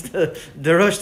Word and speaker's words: De Roiste: And before we go, tell me exactly how to pronounce the Roiste. Is it right? What is the right pronunciation? The Roiste. Okay, so for everybody to know exactly the Roiste.